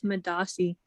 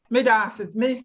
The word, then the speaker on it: medaase: Alex, are you there and willing to unmute and pronounce the word? Hi, I'm not Ghanaian, but it's Madasi. Madasi, thank you very much.